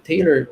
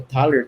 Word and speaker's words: Thaler: O professor Richard Thaler, ou Taler, tem, tem pronúncias diferentes, principais, um dos principais,